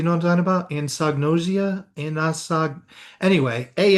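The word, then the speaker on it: anosognosia: There's there's something called and I can't even pronounce it right. Anosagnosia and and do you know what I'm talking about? Anagnosia.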